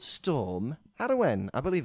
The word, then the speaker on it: Arwen: There's been a storm ravaging the UK called Storm Arwen. I believe it's Welsh. And Arwen. Arwen, yeah. Spell that name for me. A-R-W-E-N. A-R-W-E-N. Arwen to the layman. Arwen to the layman. Arwen to the Welshman.